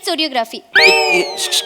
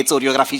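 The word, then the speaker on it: choreography: मी सगळ्यांना शिकवणार आहे चोरियोग्राफी या काय बोलताय चोर असते कोरियोग्राफी शिकवणार मॅडम कोरियोग्राफीला चोरियोग्राफी म्हणतात काय कोरियोग्राफीचा स्पेलिंग सीएच पासन सुरू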